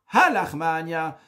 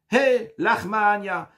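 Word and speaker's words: הא לחמא עניא: Et c'est la raison pour laquelle que la prononciation n'est pas Ha lachma anya, mais on dit Hey lachma anya.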